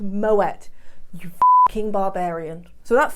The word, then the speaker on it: Moët: Some people call it Moët, it's pronounced Moët.